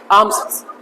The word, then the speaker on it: alms: इसके बाद में आर्म्स, ALMS, आर्म्स, ठीक है, आलम्स नहीं, आर्म्स, एल साइलेंट है, दक्षिणा दे देना।